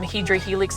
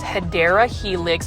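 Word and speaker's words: Hedera helix: curly locks so um I haven't said um hedra Helix in a while but for those that are new I mispronounced hadera Helix as hedra Helix because for the longest time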